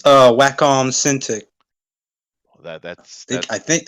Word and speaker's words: Wacom: is that it's uh wacom cintiq that that's i think that sounds illegal yeah it's whack with an m at the end yeah i know i